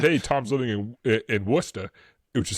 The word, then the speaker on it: Worcester: And so he said, "Hey, Tom's living in in Worcester," which is how it's pronounced. Um, not Warchester.